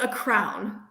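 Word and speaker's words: crayon: thing you color with i pronounce it a crown oh wow that's unique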